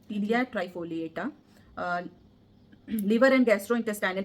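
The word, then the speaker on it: Ptelea: पी इसमें silent होगा ना. टीलिया ट्राइफोलिएटा.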